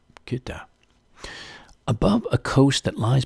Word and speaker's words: Goethe: John Goethe, Koethe. That's how I would pronounce it in German anyway. Maybe even, Goethe.